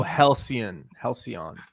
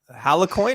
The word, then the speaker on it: Halcyon: Halcyon.